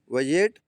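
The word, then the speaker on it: budget: अगली मैंने लिखी है बी यू डी जी ई टी इसमें भी जी के पहले डी है तो यहां भी हमारा जो डी है वह साइलेंट रहेगा साइलेंट क्या लिखा है वजेट आया वस्क इस तरह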